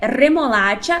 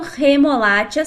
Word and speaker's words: remolacha: Por isso o certo é remolacha, vibrando o R, e não remolacha sem vibrar como no português.